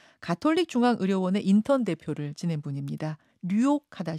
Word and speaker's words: 류옥하다: 성함이 조금 특이하셔서 혹시 제가 발음을 잘못하는 거라고 청취자들이 생각하실까 봐 잠깐 좀 설명을 드리자면 성이 류옥. 네, 맞습니다. 그렇죠? 이름이 하다. 이렇게 되시는 거죠?